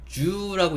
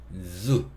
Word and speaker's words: zoo: 그래서 여기 ZOO 이게 이제 동물원이라는 뜻인데, 주라고 읽는 게 아니고 zu 이렇게 읽어야 돼요.